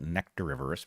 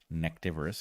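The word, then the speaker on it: nectarivorous: these are nectariverus bats you should be careful to pronounce that nectariverse because if you say nectivorous it means they eat neckties which they do not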